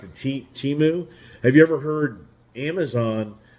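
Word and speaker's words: Temu: ever heard timu so it's like t-e-m-u-u pronounced pronounce it timu have you ever heard Amazon ever even mention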